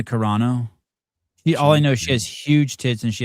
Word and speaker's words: Carano: Corano, is her last name pronounced Karina? Gina Karina. Gina Carano.